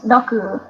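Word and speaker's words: ろく: In Japanese, six is pronounced roku, like rock.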